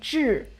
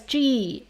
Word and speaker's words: 智: So when we pronounce this syllable, first of all, we don't change our tongue position. So where you start ch, and keep your tongue there.